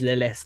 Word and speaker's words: Lilith: She is Lilith is how you pronounce the name, right? Lilith.